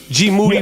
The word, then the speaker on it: Moody: I want to thank my man Chino from the Deftones, Monetti, G Moody rhymes with duty.